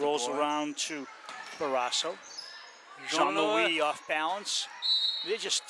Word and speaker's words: Jean-Louis: What if she wasn't French and it's Jean Lewis? It's not. Oh, you I've heard it pronounced in other places. Oh, okay. Yeah, it's Jean-Louis.